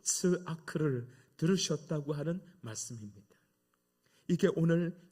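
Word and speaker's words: צעק: 이 동사는 히브리어 단어 츠아크라고 하는 말을 번역한 단어입니다. 이 발음하기 어려운 단어인데 츠아크 이렇게 됩니다.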